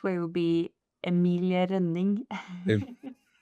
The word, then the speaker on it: Emilie Rønning: And I have uh how do how do we pronounce it? Emily runing. Is that the the right way to do it? No, it's my correct way would be Emiling.